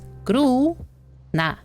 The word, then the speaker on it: грустно: So, S to N combination, we don't pronounce T. We don't. The word грустно, which is translated as sad. We pronounce it without T in the transcription is грустно.